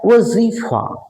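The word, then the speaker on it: वज़ीफ़ा: वजीफा ज में भी नुक्ता है, फ में भी नुक्ता है, पढ़ा कैसे जाएगा। वजीफा वजीफा का मतलब होता है आर्थिक सहायता।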